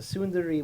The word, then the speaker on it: tsundere: A tsundere, which is exactly how it's pronounced, is a male version of this character.